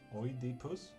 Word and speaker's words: Oedipus: How the fuck did you pronounce Oedipus? The way you should. Oedipus.